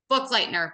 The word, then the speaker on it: Buchleitner: Buchleitner, but you're one of many to not say it right.